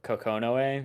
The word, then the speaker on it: Kokonoe: I'm gonna mispronounce it, but Kokonoe, is that her name?